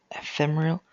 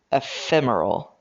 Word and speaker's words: ephemeral: To all ephemerial. That's a I'm going to I trust you, but I'm going to check the dictionary just in case. Ephemeral.